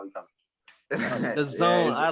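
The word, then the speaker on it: DAZN: They say Dazin. Is it Dazin? Dazin? It's the zone.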